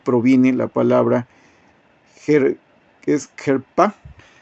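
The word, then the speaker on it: חרפה: 2781 que es abominación la palabra se pronuncia gerpa herpa esa palabra se deriva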